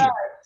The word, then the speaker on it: Tingom: Tinjum? Am I right? Yes, you are correct. Tinjum. Oh, you only told me the correct pronunciation 3 minutes ago.